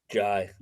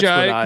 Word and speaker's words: Jai: Do you know for sure if it's Jay or Jai? Jai. Jai. I mean I hope it's Jai cuz that's what I told him.